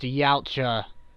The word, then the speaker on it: Yautja: It's pronounced Yautja, Wiz. You are a blaspheming heretic, and you should be chastised for your fucking unknown knowledge for not knowing how to pronounce that species name.